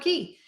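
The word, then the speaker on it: Cay: Key Perfect Day CoCo Key it's C ye it's Key C but it doesn't rhyme so it makes people uncomfortable Perfect Day Coco K yeah right that rhymes you say tomato I say the locals say key So Perfect Day St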